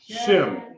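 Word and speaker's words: שם: MIM make m m so how would you pronounce this word shim shim okay it wouldn't be pronounced she and then you try to pronounce the M do you you see that y it's one syllable shim you know what shim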